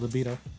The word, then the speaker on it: libido: then also it boosts your how do you pronounce this word libido liido yeah yeah that's it libido you know people always make fun of me